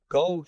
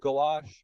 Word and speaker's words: Gouach: we pronounce uh go is it go goash yeah the second one is the good one so gou gu you